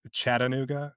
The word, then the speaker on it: Chattanooga: Uh, I learned when I moved here, it's Chattanooga. You hit the T real soft. Chattanooga. But you got to pronounce every syllable or people get mad.